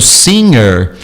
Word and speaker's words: singer: Então, no nosso caso, das palavras dadas, é o singer. Você não pronunciaria esse G, modernamente não.